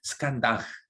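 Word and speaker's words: स्कन्धः: 뭐 이제 뭐뭐흐 할 때 그 H 밑에 그것은 그 흐 이런 발음이에요. 이게 스칸다흐 이런 스칸다흐 이런 것이 러시아로 가가지고 뭐뭐흐 하나 고로바초프 그런지 모르겠습니다.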